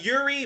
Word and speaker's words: Youri: born and uh and tell me if i'm pronouncing your name wrong it's yuri right it's uh uh yuri but but but uh